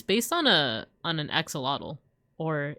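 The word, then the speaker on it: axolotl: Upon I never realized that he's based on a on an axelottle or if we want to pronounce it the Nawat way, asholot.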